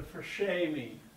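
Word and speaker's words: Fréchet: gets the name the fresh Amy another Frenchman if you want to really sound cool you roll your R like a Frenchman and you say the eat the first aid like an a h anyway fine uh the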